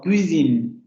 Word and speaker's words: cuisine: las pronunciaciones más marcadas, ese fonema se escucha mucho como una consonante, tanto que prácticamente nosotros podemos escuchar una ch, como en este caso.